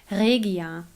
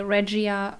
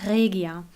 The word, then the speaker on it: Regia: If you're interested, the right German pronunciation of that company is Regia. But I always say Regia for you, that you know what I mean. But it's Regia.